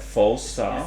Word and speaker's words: Falstaff: Falstaff. Falstaff.